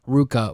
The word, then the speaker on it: RVCA: is the company which got their name from the Spanish term Ruka which is slang for